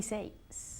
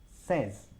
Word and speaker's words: says: Es un sonido de E.